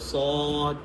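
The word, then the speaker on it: ص: যেমন সদ উচ্চারণ করলে একটু আওয়াজটা মোটা করতেছেন সদ আপনার সিন বলার সময়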